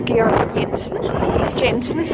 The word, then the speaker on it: Georg Jensen: First of all, you have Georg Jensen, or Georg Jensen, I suppose you pronounce it if you're not Danish.